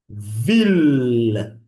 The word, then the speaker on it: ville: So, this sound, we pronounce it, okay, most of the time as the previous one, like the one L.